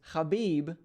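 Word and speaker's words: Khabib: the highlight gaichi versus habib the eagle norma khamedov and yes that is the proper pronunciation of both his first and last name so super excited to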